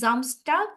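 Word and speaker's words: Samstag: vary করে আর কি তো যেহেতু আমরা ডেতে জামসটাক এটা যেহেতু ওরা এভাবে উচ্চারণ করে জামস্টাক এজন্য আমরা এটা এভাবেই শিখবো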